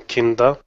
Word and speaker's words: Kinda: I just wanted to say that I have given my daughter the name Kinda. Kinda. Yes. Could you spell that so they have it written correctly?